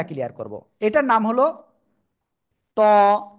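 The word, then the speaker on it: ط: করবো এটার নাম হলো ত কোন জায়গা থেকে উচ্চারণ হবে জিবার আগা উপরে দুই দাঁতের গোড়ায় লাগাবেন লাগিয়ে মোটা আওয়াজে উচ্চারণ করবেন ত সবাই একসাথে বারবার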